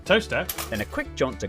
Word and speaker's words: Towcester: Mousehole, Next, travel north up to Towcester, Toaster, then a quick jaunt to Gotham, Gotham, followed by a stop in Quernmore, Quormer, before finishing up in Alnwick.